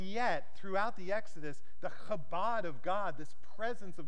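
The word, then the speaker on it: כבוד: use the Hebrew word kabad can everyone say that with Mead if you're saying it right you'll spray a fine little Mist on the neck of the person in front of you kabad is the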